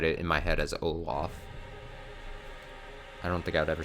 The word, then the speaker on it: Olaf: that words are dumb i would always pronounce the antagonists from a series of unfortunate events as count olaf instead of wait oh loaf oh loaf oh oh loaf in syria instead of olaf and it drove my